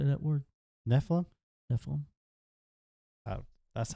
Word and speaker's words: Nephilim: they neilan how do you say that word Nephilim Nephilim that's how I say it it might